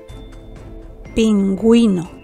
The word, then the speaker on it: pingüino: exclusivo de gu gui indica que se pronuncia la u cambiando el sonido a gu Wii Escucha las palabras en la segunda oirás la letra u pinguino pingüino bilingue bilingüe guero guero